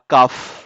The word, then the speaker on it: calf: A baby cow ইজ কল্ড আ কাফ। কাফ বলা হয়, CALF। ক্যালফ হবে না, উচ্চারণ হবে কাফ।